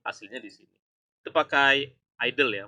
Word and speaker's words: IDLE: Itu pakai idle ya, bacanya idle ya, idle ya.